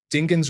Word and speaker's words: Dingens: Northern California story 22 dingens Road pronounced dingen but my friend when visiting pronounced it with a hard G which has been stuck